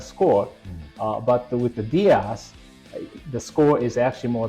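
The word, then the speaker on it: DIAAS: you can digest yes so I think the dasas the digestible indispensable amino acid squ did I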